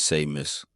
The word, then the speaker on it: Smus: My name is Smus. That's famous with an S for those who don't know how to say my name.